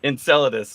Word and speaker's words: Enceladus: loud how do you say it again Enceladus Enceladus bio thank you I've read the word many